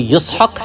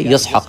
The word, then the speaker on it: یسحق: آپ کی ختنہ ہوئی۔ اسحاق علیہ السلام کا اصلی جو تلفظ ہے وہ یسحق ہے، اس کو آپ کہتے ہیں انگریزی میں، جس کو لیٹن میں آئیزک کہا جاتا ہے، آئیزک۔ تو اس کا اصل تلفظ کیا ہے؟ یسحق۔ یہ عربی زبان میں